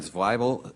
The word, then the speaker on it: Zweibel: Zweibel, I'm reminded here by my staff, rhymes with Bible.